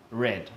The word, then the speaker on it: read: what's the past tense read read okay just like the color it's spelt the same re ad but we pronounce it as red like the